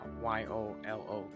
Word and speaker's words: YOLO: to go Next one on the list is Y-O-L-O It is pronounced as YOLO YOLO stands for You only